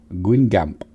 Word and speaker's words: Guingamp: right some of them i've googled it and listened to it and i think it's pronounced by my french it's pretty shoddy uh guingamp so gwyn gamp that's how they keep repeating it so that's how we're gonna say it and we're in